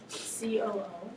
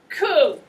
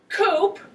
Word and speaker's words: coup: is spelled c-o-u-p okay this is pronounced coo as in baby yeah it is not pronounced coop which is where chickens live coo c-o-u-p do not